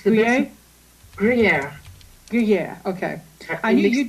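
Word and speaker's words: Gruyère: Gruyere.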